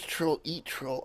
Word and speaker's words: Trollearttroll: Oh, it is Troll Eat Troll.